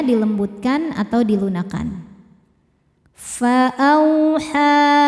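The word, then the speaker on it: فأوحى: Fa'auha, ha hukumnya mad jaiz munfasil sebab ada mad tabi'i yang bertemu hamzah dalam 2 kata. Mad tabi'inya adalah fathah panjang pada kata fa'auha ya, kata pertama. Kemudian hamzahnya yang i masuk ke kata kedua yaitu ila. Maka haknya panjang, boleh 4 boleh 5 harokat.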